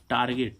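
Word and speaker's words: target: ही हम देखें इसमें टी ए आर जी ई टी टारगेट टारगेट means क्या होता है लक्ष्य तो देखो जी के बाद क्या आ रहा है इ फिर भी इसका उच्चारण क्या निकल रहा है ग ठीक है ऐसे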